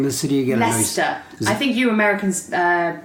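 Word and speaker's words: Leicester: sorry what's the name of the city again looser I think you Americans mispronounce it by calling it a lie sister okay gotcha gotcha so yeah I'm here to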